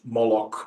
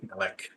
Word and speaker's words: Molech: So it's variously pronounced as either a variation of Moloch, Molech, Melech, or Malcolm, Milcom, Malcham, something like that.